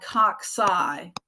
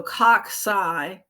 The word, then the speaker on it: cocci: that caucus and then the plural is called cock-sci cock-sci is first c is a hard c and the second c sounds more like an s so cocci would be the plural so in this image